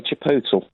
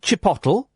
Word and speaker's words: chipotle: How would you pronounce that? I say chipotle. Right, I would say chipotle.